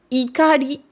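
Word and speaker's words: 怒り: D'où l'importance de bien prononcer votre H, parce que sinon, c'est le même mot. Donc, ikari avec un I, c'est la colère. Hikari avec un H, c'est la lumière.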